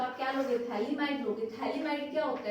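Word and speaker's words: phthalimide: थैलेमाइड में pH silent होता है, थैलेमाइड बोलते हैं, ठीक है।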